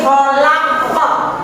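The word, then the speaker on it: خلق: Ini adalah huruf kha. Kha itu ditenggorokan. Kha. Coba dia bilang tenggorokannya sampai tenggorokannya bergetar.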